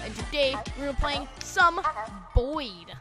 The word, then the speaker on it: Boid: today we're playing some boy rhymes with void gab have you have